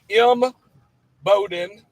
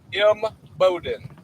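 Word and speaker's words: Imboden: Okay, I'm going to uh we're in um M Bowden as I've been corrected recently on making sure I pronounce it properly. M Bowden. M E like M Bowden.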